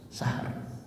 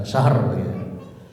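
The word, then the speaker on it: شهر: Nah, sahnya ro tipis sahr ya, bukan syahrak.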